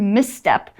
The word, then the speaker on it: misstep: you see this word misstep you might be tempted to say oh it's miss and then tep no it's miss step so you actually have to say it is two syllables misstep miss means to